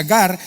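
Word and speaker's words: γάρ: Cuando él en el griego usa porque, esa palabrita gar, en griego se pronuncia gar.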